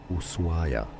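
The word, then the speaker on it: Ushuaia: used locally is as usua. Yes the h is not pronounced essentially just ignore it.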